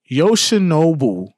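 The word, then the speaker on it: Yoshinobu: And Yosha Nobi, I got to say his name right. Yosha Nou Yamamoto.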